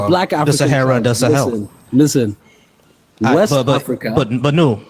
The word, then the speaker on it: Sahel: Do you know what Sahel is? I'm from the Sahel. Right. So is that how you pronounce that word? I can't pronounce it right. Sahel, yeah, that's correct.